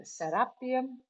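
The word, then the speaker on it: Serapeum: pyramid we went to the sarapium or the setupium as most Egyptian people will call it but I prefer the pronunciation of sarapium and why also I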